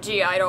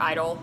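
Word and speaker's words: (G)I-DLE: Next we have G-Idol, or Idol, because the G is silent.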